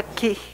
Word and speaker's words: Cih: Se pronuncia Ki.